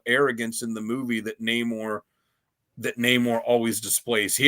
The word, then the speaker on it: Namor: It's It's not Neymar. like they they couldn't even get an actor that could pronounce the name, you know, Neore. No, it's it's Neymar.